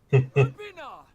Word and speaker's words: Urpina: Urpina! Lord Rosung! That's how you pronounce it?